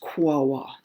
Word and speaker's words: Quaoar: It's called Wawa, Quaoar, far too many vowels in it. I understand that's pronounced Wawa.